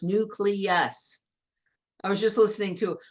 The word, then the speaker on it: nucleus: the nucleus excellent pronunciation remember the L comes first nucleus I was just listening to a politician talking the other day calling it nucleus and I was like nucleus all right so what's